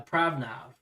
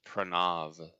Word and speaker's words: Pranav: hey what's up uh pravnav is that how you pronounce it i apologize if i'm messing up people's names i think it's pranav oh you're right you're